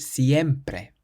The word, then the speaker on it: siempre: Siempre, siempre. So not siempre or siempre, but siempre.